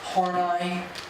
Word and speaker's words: Horney: please just bring it down now notice it's pronounced horney she rejected sexuality and also Freud's notion that